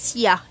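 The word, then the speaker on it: Siya: Ça se prononce Sia, mais s'écrit S-I-Y-A.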